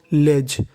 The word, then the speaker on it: ledge: अगर आपको इंग्लिश में कहीं पर DGE लिखा मिले तो उसका उच्चारण करना है जा।